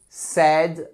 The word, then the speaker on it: said: très courant to say say attention à la prononciation tu say said said donc là ce n'est pas sa say